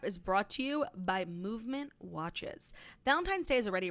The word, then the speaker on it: MVMT: And Movement is spelled MVMT.